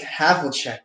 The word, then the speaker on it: Havlicek: Havlicek.